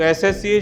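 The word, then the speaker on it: SSC: तो और में एन और एसएससी, तो एसएससी शॉर्ट फॉर्म है, भले एस है पर उसका प्रोनाउंसिएशन स नहीं है, इसका प्रोनाउंसिएशन है ए, तो आएगा एन एसएससी स्टूडेंट।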